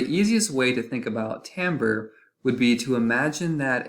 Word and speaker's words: timbre: the word timbre is spelled almost like we should pronounce it timber but we're actually going to be pronouncing it timbre and another way of